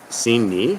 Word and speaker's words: Sini: Sini. Sini is how they pronounce it here.